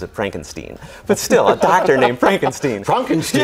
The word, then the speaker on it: Frankenstein: Actually, he pronounces it Frankenstein, but still, a doctor named Frankenstein.